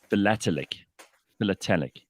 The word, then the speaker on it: philatelic: Here's Jamie with some useful advice on how to pronounce it. It's philatelic.